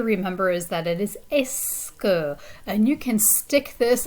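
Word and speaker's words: est-ce que: silent letters in here the only thing you're really pronouncing it seems like is the e and the s at the beginning right the t hyphen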